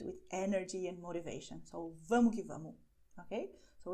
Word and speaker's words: vamo que vamo: I am pronouncing the way that we pronounce it when we talk informally.